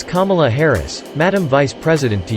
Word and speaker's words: Kamala: forcefully interjected to scold DeSantis about how he pronounced Vice President Kamala Harris's first name. "And by the way, it's not Kamala Harris," Newsom said. "Shame on you. It's Kamala Harris, Ron. It's Kamala Harris, Madam Vice President to you.